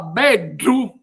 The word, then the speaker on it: beddu: La parola beddu invece si pronunzia con una d cacuminale, quindi arrotolando la lingua all'indietro e facendo toccare alla sua punta il palato.